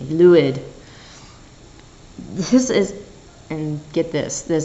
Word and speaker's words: Lwyd: The Merry Lwyd, or Lwyd. Excuse me, Lwyd.